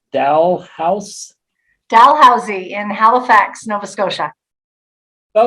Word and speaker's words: Dalhousie: She earned a bachelor's in public health education and promotion from, now I'm not going to pronounce this right, Dalhousie in Halifax, Nova Scotia. That was close, Dalhousie.